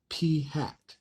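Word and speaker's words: p̂: Okay, now in this case, our point estimate is going to be called p hat. Okay, that's how you pronounce this guy.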